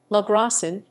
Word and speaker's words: Logrosán: spanish pronunciation la gracian is a municipality within